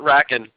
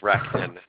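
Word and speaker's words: RackN: we we call it raken we we like to blend the N some people like Rack in all right so Rob's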